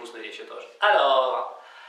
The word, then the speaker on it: alors: По-французски слово тогда будет alors, alors, alors, alors, alors, alors. Тогда мы всегда можем начинать говорить этого на письме, в письменной речи, в устной речи тоже. Alors, в разных ситуациях.